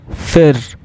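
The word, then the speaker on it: für: If we see 2 dots on the U, it is pronounced as Y. I. Okay, example, FU, 2 double dots R, fir, which means for.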